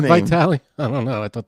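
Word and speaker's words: Vitale: this girl's only fans it is Dick vital though it is spelled with an e at the end instead of a y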